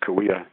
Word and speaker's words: Cahuilla: Meyers is a member of the Cahuilla Nation, Cahuilla, pronounced Cahuilla, member of one of the 10 bands of the Cahuilla Nation.